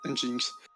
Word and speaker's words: Nginx: Je ne sais pas prononcer ça. C'est Nginx, non? C'est Nginx en fait. Nginx.